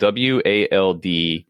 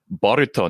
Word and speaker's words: Wald: department store is spelled WALD numeral 9. And I always called it Wald 9. But I just recently saw, because I went there and on my receipt it said Boruto 9.